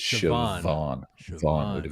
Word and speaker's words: Siobhan: But the B, most people would say Siobhan, but you were very close there. You said Siobhan. Yeah. But it's Siobhan. Siobhan with a V. Wow. The BH should be like a V sound.